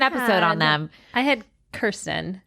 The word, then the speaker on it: Kirsten: I had Kirsten. Or did I say Kristen? No, you said Kirsten. You said it right.